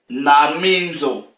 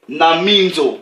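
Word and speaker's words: νομίζω: L'expression en grec là-bas, c'est, ça s'écrit en fait, nominzo, mais ça se prononce, ok, naminzo. Ok, donc, qu'est-ce que cette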